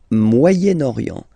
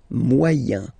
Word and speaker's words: Moyen-Orient: Le Moyen-Orient. So it's interesting here because normally if you would have only this word here, you would pronounce it moyen, moyen, okay?